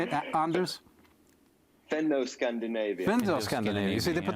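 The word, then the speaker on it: Fenno-Scandinavian: Fendo-Scandinavian.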